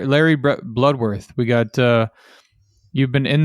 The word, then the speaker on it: Bloodworth: So we got and forgive me if I mispronounce it, but is it Bloodworth? Yes, that's correct. So Larry Bloodworth.